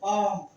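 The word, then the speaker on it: palm: एल एल नहीं पढ़ा जाएगा, पाम, एल नहीं पढ़ा जाएगा, पाम, एल नहीं पढ़ा जाएगा।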